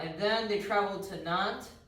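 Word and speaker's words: Nantes: Um uh and then they traveled to Nant, that's how I've heard that pronounced.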